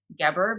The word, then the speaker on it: Geber: I believe his name is pronounced Geber, but I'm not sure on that pronunciation.